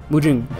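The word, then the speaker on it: 矛盾: Mujun, that's how you say it.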